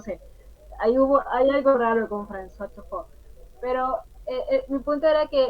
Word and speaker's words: François Truffaut: Yo pienso en François Truffaut, así lo estoy pronunciando bien, François, Sí, sí, François Truffaut.